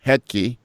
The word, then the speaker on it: Hetke: Yeah, That's Jason Hetke, don't pronounce the H, and Luke Lemons, who has the fabulous Sue Line second sub.